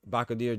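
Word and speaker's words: Bakhodir: If Apataya goes to heavyweight, give him Jalalov, Bakodir, as how you pronounce Bakodir Jalalov.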